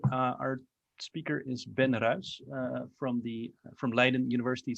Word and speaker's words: Ruisch: way that sounded uh i usually say but i've been corrected